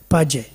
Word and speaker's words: Page: Page, P-A-G, that's how you pronounce Page? V.S. Page or Page? Page, V.S.